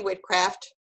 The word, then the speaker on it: Whitcraft: just my name wit Kraft calm we spell it for everybody please whit3 and some people are going did she say witchcraft and it's not witchcraft but people think that